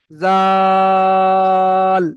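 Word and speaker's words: ذال: উপরে নোক্তা রয়েছে তো এই অক্ষরটার নাম হলো জাল। ওই একই রকম সিস্টেম শেষে টান দেওয়া যাবে না। এর বিষেখানে টান করতে হবে। জাল টান দিয়ে গিয়ে লয়ে পড়তে হবে। জাল তো এখানে তিন আলিফ পরিমাণ টান হবে।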